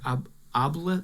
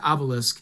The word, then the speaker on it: Obelisk: a new uh book out called the shattered OB I always say it wrong OB obisque the shattered Obelisk fand Delver and below it is a magnificent